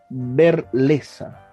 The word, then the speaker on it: Verlezza: mi coetáneo, mi amigo Alejandro Sebastiani Berleza. Se pronuncia de esa manera, Alejandro.